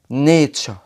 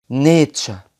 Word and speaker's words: nature: نيجي للحرفين دول بقى التي واليو بيعملوا صوت تش في بعض الكلمات زي كلمة nature nature.